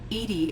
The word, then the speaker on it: EDI: should be reminded why are you named edie edie is the phonetic pronunciation of edi that is an acronym for